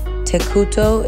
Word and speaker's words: Tekuto: Tekuto is how the latter half of the word architect is pronounced in Japanese.